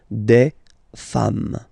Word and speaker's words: femmes: singular form and then you just add this s at the end, and as we said, you don't pronounce it, so you get des femmes.